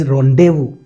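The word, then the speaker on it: rendezvous: It's pronunciation is रोंडेवू, याद रखिएगा, क्योंकि ये इसके साथ जो है वो साउंड मैच करेगा।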